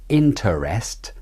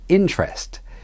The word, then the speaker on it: interest: at all for example in the word interest it isn't interest but interest you leave out the ER vowel interest another example is